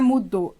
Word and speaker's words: mudo: A palavra é mudo ou é mudou? A palavra é mudo. Então a tonicidade está no mu. Significa que ela é uma palavra paroxítona.